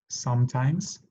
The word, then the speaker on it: sometimes: Always, usually, often, sometimes, omitimos la E, sometimes, hardly ever, and never.